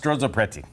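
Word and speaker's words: strozzapreti: It's pronounced Stroop Preti.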